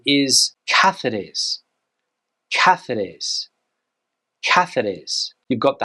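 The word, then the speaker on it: Cáceres: here I've heard people pronounce this word as cetes but the Spanish pronunciation is cathes cathes cathes you've got the hard se sound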